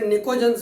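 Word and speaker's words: pnictogens: Group 15 जिसे नाइट्रोजन family भी कहा जाता है, ग्रुप 15 जिसे निकोजेंस भी कहा जाता है। PNICOGENS, पी साइलेंट है, भूलना मत।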